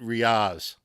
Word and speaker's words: Riaz: Now, did I get Riaz right, or is it Riaz? It's Riaz, but I don't mind exotic pronunciations, however you want to, however you want to call it.